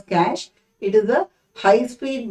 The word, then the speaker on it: cache: high speed memory okay cash memory is pronounced as cash it is a high